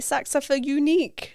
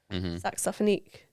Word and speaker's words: Saxophonique: why people sometimes say saxophone unique, and I'm like, what? Where Oh, does so that people come from? say that. Oh, I get all sorts of pronunciations. So I'm thinking, if you're thinking of the word saxophonist, saxophonique, you know, that in